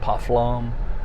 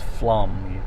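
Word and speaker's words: Pflumm: do you say that pufflom now it's flum the p is silent and it's also i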